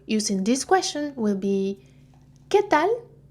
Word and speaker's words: qué tal: So notice the pronunciation here. I don't pronounce this vowel. You can just ignore it, okay? I don't say que, I say que. And also for the L, it's not pronounced from the back of my mouth. Instead, my tongue is against my teeth.